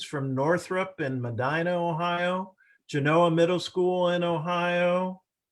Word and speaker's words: Genoa: Genoa Middle School in Ohio, or Genoa, if you want to do the Italian pronunciation.